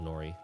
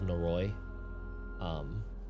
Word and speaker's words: Noroi: Reaper, being from this area, you have definitely heard of the 12 Nori, which is sort of a shorthand mispronunciation of 12 Noroi.